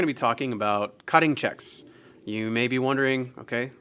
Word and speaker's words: cheque: But this is what we refer to as a check. It's spelled C-H-E-Q-U-E-S, typically.